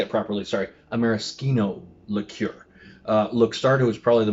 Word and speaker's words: maraschino: When I talk about maraschino liqueur, there's a couple of brands that make, I'm going to say it properly, sorry, a maraschino liqueur.